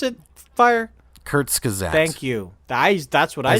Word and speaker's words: Kurzgesagt: One's from Kurskagau. I can't. How do you pronounce it? Fire? Kurzgesagt.